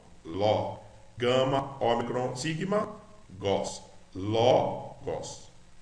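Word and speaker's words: λόγος: Logos. Ló, L-O-G-O-S, gos. Logos. Então a primeira frase fica en, arque, en, O logos. Por causa do acento aqui, a gente pronuncia mais forte.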